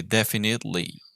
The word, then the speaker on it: definitely: so this one definitely we do not pronounce the e so we don't say it definitely but we say definitely like without the e definitely definitely okay let's